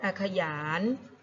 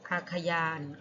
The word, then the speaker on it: อาขยาน: ของ บท อาขยาน ก่อน บท อาขยาน อ่าน ได้ 2 แบบ นะ ลูก อ่าน ว่า บท อาขยาน นะ คะ อ่าน ว่า บท อาขยาน หรือ บท พา ขยาน ก็ ได้ นะ คะ ก็ คือ บท